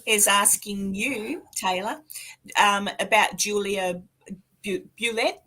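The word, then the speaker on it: Julia Bulette: That's how you say her name, isn't it? Yeah. I mean, if they say that she was Creole or French or English, is on the story or the legend that you go with. If she was indeed French or Creole, it may be Bulett. But in town, you come and you ask for Julia Bulett, and people, that's the way the locals pronounce it.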